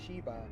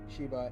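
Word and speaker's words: Seba: The kings of Sheba and Sheba will, by the way, those are two different words, just so you guys know. It's Sheba and Sheba, S-H-E-B-A and then S-E-B-A. So I'm pronouncing those two differently, okay?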